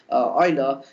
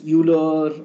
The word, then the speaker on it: Euler: was first formulated by Oiler so you basically people pronounce them as uler or various names but definitely the various people pronounce him as OA so this is the name that is generally practiced even I have most